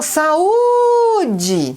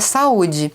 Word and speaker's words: saúde: vai chamar o saúde Qual é a sílaba que se esticou mais o que por um acaso é que tá com acento agudo não é porque essa sílaba u aí é a sílaba tônica da palavra saúde ela é a última não ela é a penúltima Toda vez que você